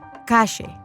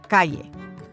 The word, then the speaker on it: calle: They pronounce their double L's and Y's with a sh sound, as in ayer or calle, instead of ayer or calle.